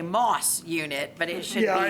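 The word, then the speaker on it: MAS: They've been there 18 years or so, and recently it's called a MOS unit, but it's spelled M-A-S. I have to say that. I don't know why they pronounce it MOS, but it's M-A-S unit.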